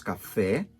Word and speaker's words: café: é idêntica só que no português nós temos café porque uma e aberta é o café café café eu nunca